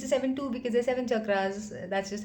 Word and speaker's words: chakra: is written as this is the way you pronounce it it is chakra chakra but then how do you write it in